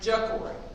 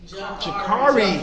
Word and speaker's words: Jakari: Jacory. Okay. I'm saying it wrong. Jakari. Jakari. Okay. Come on. That's right. Say it right.